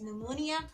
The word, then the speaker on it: pneumonia: behind this that why we say it as pneumonia now i'm clear about it now i know